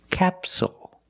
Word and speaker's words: capsule: Again, the stress is on the first syllable, so the second syllable is short. It's not capsule, it's capsule, with a dark L at the end. Capsule.